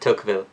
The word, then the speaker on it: Tocqueville: how americans pronounce it tocqueville but it would be something like this i think took v um rather than because the ll in french is not pronounced in that way okay so he said